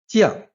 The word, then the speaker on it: 强: The same character can have different sound. 强 can also be pronounced 犟.